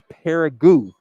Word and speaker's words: Paragu: get the uh pronunciation it is paragu paragu like like a o on the end oh oh on the